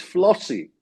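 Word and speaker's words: FLOSY: And there is an acronym which rhymes with proxy and would only come up now in trivia contests, and that is FLOSSY.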